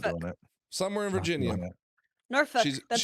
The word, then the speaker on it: Norfolk: I'm joined by Scrapclaw, newly in from Norfolk, what is it? Lythian, how is it? Oh, I'm Norfolk. not doing it. Somewhere in Virginia. Norfolk, that's how you pronounce it.